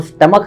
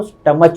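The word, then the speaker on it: stomach: और हमारे जो टीचर है वो स्टमक है ना, अपन स्टमक बोलते जी। हैं, जी। जी। वो स्टमक को स्टमच बोलते थे।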